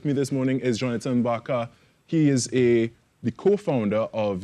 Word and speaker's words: Barcant: And now I go across to my segment here, because with me this morning is Jonathan Barcant. He is the co-founder of the I Am movement. Yeah. That's how you pronounce it?